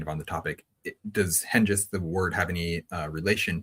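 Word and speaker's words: Hengist: But and also you had a problem with the pronunciation of the Saxon leader name. Oh yeah. Shoot. Henist. That's how you say it. I think they said hang the entire time or something.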